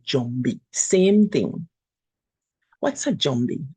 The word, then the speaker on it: Jumbie: the Kikongo language, and it's sometimes pronounced as zombie. So you will hear maybe Jamaicans talking about zombies and other people, but we say Jumbie.